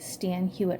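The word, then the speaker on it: Stan Hywet: If you're ever near Akron, Ohio, and have a few hours free, it is worth going to visit Stan Hewitt Hall. It's spelled Hywet.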